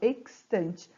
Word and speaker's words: extante: Então, eu pronuncio o X e o S, ó, extante.